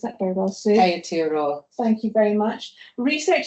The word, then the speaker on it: Aotearoa: Publications are within teaching, teachers and curriculum, dance research, Aotearoa. I didn't pronounce that very well, Sue. Aotearoa.